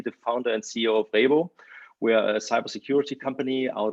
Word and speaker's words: Rhebo: You pronounced it perfectly. So the founder and CEO of Rhebo.